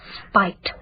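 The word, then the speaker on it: Speight: spiked I'm sorry spiked it's pronounced spite it's spelled s-p-e-i-g-h-t that's usually pronounced State isn't it I thought it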